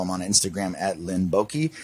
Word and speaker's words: Boyke: on Instagram at Linn Boyke. It's LINNBOYKE. The Y is silent. That's what we were told.